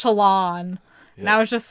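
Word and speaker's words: Shallan: And, like, Shalin. But apparently it's Shalon.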